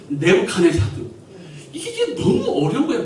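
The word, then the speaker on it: Nebuchadnezzar: 근데 영어 발음은 네부카네사드.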